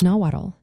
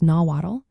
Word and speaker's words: Nahuatl: How do you pronounce nawatt? Have you ever wondered how to pronounce nawatt?